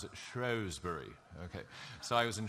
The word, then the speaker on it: Shrewsbury: And I thought it was Shrewsbury, but the British pronounce it Shrewsbury.